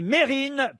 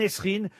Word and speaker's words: Mérine: prononciez bien mon nom moi c'est mérine pas mme nesrin je suis dans le